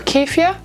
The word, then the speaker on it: keffiyeh: First, out of the bag, in no particular order, I'm going to go with this keffiyeh or keffiyeh. Keffiyeh is how you say them.